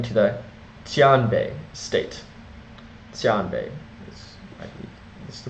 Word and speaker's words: Xianbei: carne now moving to the tan Bay State tan Bay this the correct pronunciation but it's spelled x i n b